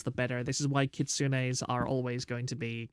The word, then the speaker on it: Kitsune: This is why kitsunes are always going to be the best characters ever. 1 second on the drink. The E at the end of Japanese words is always pronounced.